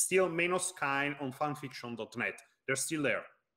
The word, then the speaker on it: Meinos Kaen: Well, hello there, Meinos Kain here, which can be a bit weird to say considering it's written like this, but the thing is that it's an Italian pronunciation because I'm Italian, class 1988.